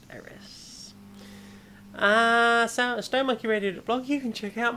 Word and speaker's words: Aerith: That's AERITH. It's just pronounced Eris.